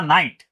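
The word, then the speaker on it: night: Sound क्या बनेगा नाइट जी एच कहां जा रहा है जी एच घस्ट है इसलिए क्या हो रहा है वो वो गायब हो रहा है ठीक है साइलेंट हो रहा है एल आई जी एच टी क्या पढ़ते हैं हम?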